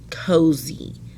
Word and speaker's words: cozy: been struggling with this when you have a y at the end of a two-syllable word it will always make the long e sound cozy you don't need ey you don't need ie you don't need two e's all you need is this y after whatever consonant you have cozy these are two open